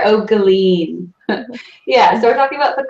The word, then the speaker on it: O'Guilin: last name Megan is our pretty official pronunciation patter okay lean patter Oh galine yeah they're talking about